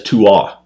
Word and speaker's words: Tuath: Well, it looks like Tuath. Right. But it's Tuath. Tuath. Tuath. Yeah, the TH on the end is silent.